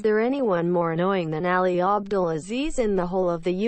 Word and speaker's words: Ali Abdelaziz: I found out the real way to say Ali's name. It's Ali Abdelaziz. That's how you say his name. Yeah. That's not even how it's spelled. No, that's how you pronounce it.